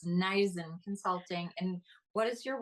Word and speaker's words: Neisen: And forgive me for mispronouncing your your name. It's Naisen Consulting.